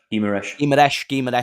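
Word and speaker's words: Guimarães: Guimaraes.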